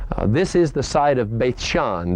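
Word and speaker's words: Beit She'an: is the site of Beit Shean that's the Hebrew pronunciation we sometimes call it Beth Sheehan it's also the site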